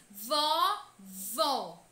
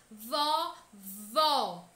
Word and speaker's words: vó: Já na palavra vovó, o acento agudo presente nesta palavra mostra que a pronúncia desta sílaba tônica deve ser aberta. Vó. Com o som aberto, o som para fora. Vó.